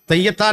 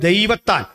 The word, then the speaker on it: ദൈവത്താൻ: എന്നായിരുന്നത് ഒരു അപശബ്ദീകരിച്ച പേരാണ് തെയ്യത്താൻ എന്നല്ല ശരിക്കുള്ള പേര് ദൈവത്താൻ പേര് ദൈവത്താൻ എന്നാണെങ്കിലും ഉച്ചരിക്കുമ്പോൾ തെയ്യത്താൻ എന്ന് വിളിച്ചിരുന്നു ആരോ പറഞ്ഞു ആക്ഷേപിക്കാൻ അങ്ങനെയൊന്നുമല്ല ആക്ഷേപിക്കാൻ